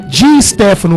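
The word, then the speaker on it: Di Stéfano: Dá uma olhadinha lá, molecada, lá, joga lá no YouTube, lá no YouTube, Di Stefano, o S é mudo, tá?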